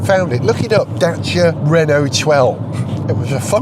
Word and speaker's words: Dacia: mispronounced all the time the answer is dater and drawing a data duster data of course a lot of people still call daia or even daier now the name you